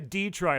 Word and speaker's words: Detroiter: it wrong I say I say a Detroiter I say like the Troy Detroit that is exactly